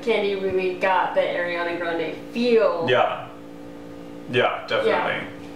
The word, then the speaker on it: Ariana Grande: Ariana Grande from Ariana Grande's ponytail.